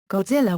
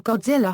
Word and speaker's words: Godzilla: The Japanese pronunciation of the name is ( ); the Anglicized form is , with the first syllable pronounced like the word "god", and the rest rhyming with "gorilla".